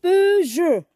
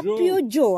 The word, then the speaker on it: Peugeot: Peugeot. Pas Peugeot, hein? Pas Peugeot, mais Peugeot. Peugeot.